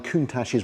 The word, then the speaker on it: Countach: Only 2,049 Countaches were actually made over 2 decades. And you'll notice I pronounce it correctly, Countach, not the way Jason says it.